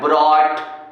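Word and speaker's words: brought: देखो सुनो, क्या है लिखा है, जब GH शब्द के बीच में आ जाए तो मेरे भाई इसका उच्चारण नहीं करते, ये शांत रहता है। ठीक, लो एग्जांपल, स्वाहा। देखो क्या आया है, ब्रॉट, बॉट। GH दिख रहा होगा लेकिन मेरे भाई पढ़ नहीं रहे हैं।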